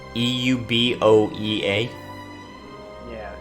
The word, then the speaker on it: Euboea: goes boy oh my oh you Oh EU b OE a it's it's pronounced euboea it's a current it's an actual